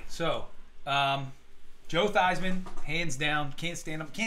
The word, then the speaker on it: Theismann: probably say Joe Theismann. Oh, Because wow. he's. The guy changed his name to rhyme with Heisman.